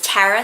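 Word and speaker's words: Tarah: name is very unique it's tara spelt with an h at the end so t-a-r-a-h and most people don't spell tara like that it's usually t-a-r-a and they don't usually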